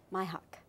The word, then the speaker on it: Mihok: My mother pronounces it Dashiell, so I have to pronounce it Dashiell. And last name is Mihok. Mihok.